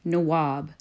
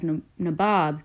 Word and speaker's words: Nawab: in the English language Nawab which the 21st century oh dude English dictionary defines as Lord or Governor English mispronunciation of Nawab as nabob became a term used